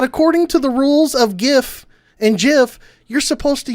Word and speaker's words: GIF: The creator of the file format himself declared the pronunciation to use the soft G.